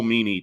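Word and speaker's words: Meaney: I think it's pronounced Meany.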